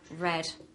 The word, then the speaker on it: read: we have read and here we have red like the color okay same with the